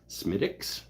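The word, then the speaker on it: Smithwick's: about this particular beer smiix is how it's pronounced really they should smell it they should spell it different though smiix all right uh apparently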